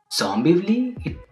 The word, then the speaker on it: Zombivli: And okay, that makes sense because when I read the name of the movie, I was like, Zombivli? It rhymes with Dombivli.